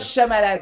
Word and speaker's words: Shyamalan: chabadabada achat malades j'aime à la meinau night shyamalan quand on voit le nom d'orient m déjà